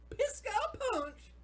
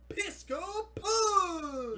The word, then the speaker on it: Pisco Punch: Pisco Punch. You gotta say it like Falco Punch. Oh, there you go. Pisco Punch.